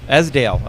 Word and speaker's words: Esdaile: I'm going to not say it right, Esdaile. Esdaile.